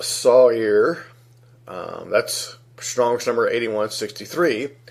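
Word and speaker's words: שָׂעִיר: word site here which is sa I are pronounced Sawyer that's strongest number 81 63 a he or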